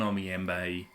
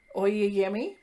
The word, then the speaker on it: Oyeyemi: Oyeyemi. I'm probably You're getting her confused with a different writer. You're definitely adding in an extra M when you say it.